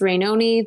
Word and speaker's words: Rainone: the social medias rainoni that's not baloney but it rhymes with baloney and it's spelled rain